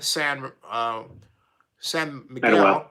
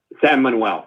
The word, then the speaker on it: San Manuel: You have an Indian gaming organization out of California, San Miguel. Samuel. I don't want to mispronounce the name. Can you help me, please? San Manuel.